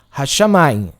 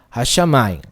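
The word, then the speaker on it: השמים: E o som aqui é aquele H com o som do inglês. Então et hashamayim. Et hashamayim.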